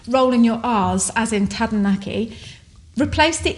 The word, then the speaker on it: Taranaki: and they said oh it's actually tadanaki and it sounds so beautiful when it's pronounced the way it should be but it's hard to